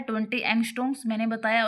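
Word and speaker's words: angstroms: डीएनए का diameter होता है 20 एंगस्ट्रोम्स। मैंने बताया और जो ये है एंगस्ट्रम्स बोलते हैं इसको। ए एन जी एस टी आर ओ एम इसकी स्पेलिंग है ये एंगस्ट्रम्स।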